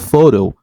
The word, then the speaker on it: photo: different syllable for example the word photo it it stretch in the first syllable and photo and then photograph it's